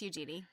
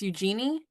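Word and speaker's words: Eugénie: Empress Eugene it's Eugenei right it's Eugenie it's Eugenie I thought that was the I thought that was the English pronunciation is it the French pronunciation I don't know I don't know how you say that in France in France I think it's Eujenei Eugenei. I mean, that's what I say in my like English speaking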